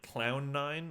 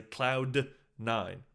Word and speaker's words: Cloud9: now in past videos I say cloud n too fast I it sounds like clown n I'm just saying clown